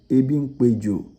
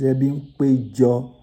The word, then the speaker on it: Ebimpejo: Then Ebimpejo, for the non-locals, they'll pronounce it Ebimpejo, but it's Ebimpejo, where extended family gather to meet.